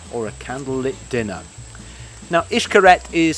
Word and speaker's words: Xcaret: a candlelit dinner now ishkaret is spelt x-c-a-r-e-t but pronounced ishkaret and it's the original